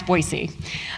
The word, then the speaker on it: Boise: and then here is Boise notice the soft s and the lack of the Z sound um which is how you actually pronounce Boise uh so we're going